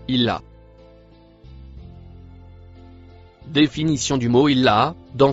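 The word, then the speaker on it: إلا: Le mot rouge après le violet se prononce illa.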